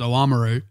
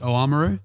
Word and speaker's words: Oamaru: to visit if you don't say again Amuro oamaru well see he's the thing this is a hotly debated topic I do believe the correct pronunciation is Ola Meru yeah but like all locals the good certain